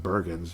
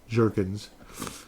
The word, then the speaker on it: Jurgens: Jurgens, who I mispronounced on the video, I called him Bergens, but I don't know. I was just kind of losing my mind. Michael Jurgens, 25 years of age, out of Wake Forest.